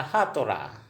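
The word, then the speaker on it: সাঁতোৰা: तैरना, तैरना, तैरना जिसको हम असमिया में कहेंगे खातोरा। जैसे पानी में हम तैरते हैं ना, उसको खातुरा कहेंगे। असमिया में क्या कहेंगे, खातोरा। उच्चारण होगा हातोरा।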